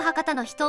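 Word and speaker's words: 博多の女: 博多の人メタン博多の人じゃなくて博多の女なのだ当地で人と読むそうよ日島三郎の楽曲博多の人を引用して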